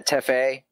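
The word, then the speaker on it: Tefé: the blue in, and do you pronounce them teffies, or how do you pronounce that? Yeah, teffe.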